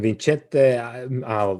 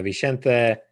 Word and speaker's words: Vicente: him to be captain vincette no that's a that's a italian pronunciation what am i doing uh vicente uh aguiar he is